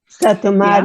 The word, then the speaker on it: Satu Mare: Is that how you say it? Satu Mare Yeah. is Romanian, Satu Mare is Hungarian. Okay.